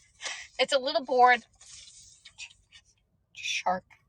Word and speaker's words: charcuterie: Lorenzo says shark cookery. Shark cookery board. A charcuterie board. Charcuterie board.